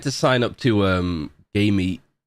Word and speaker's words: GAM: sign up to um game which sounds interesting when I say out loud but it's spelled g a m because they're running a